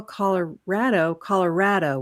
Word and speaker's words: Colorado: And in Utah, we call Colorado with the "ah" sound. Yes.